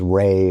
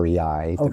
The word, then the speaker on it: Rei: So when you translate the name of the amplifier is rey or REI and you can pronounce it either way and the translation the Chinese translation is zero.